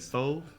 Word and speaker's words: pho: You said pho? Pho. It's pronounced pho.